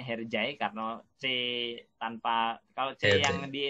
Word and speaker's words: Hercai: sinetron ini hej hej tapi sebenarnya bacanya harjay Karno Sheikh tanpa kalau